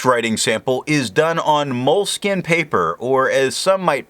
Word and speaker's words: Moleskine: The next writing sample is done on moleskin paper, or as some might pronounce it, moleskine.